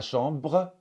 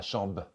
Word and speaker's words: chambre: des mots par exemple après la consonne be ma chambre va parfois devenir ma chambre peut-être va devenir peê